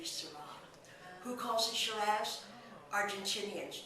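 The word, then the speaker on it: Syrah: region back to France they pronounce the word shz in French to be sarra who calls the shaves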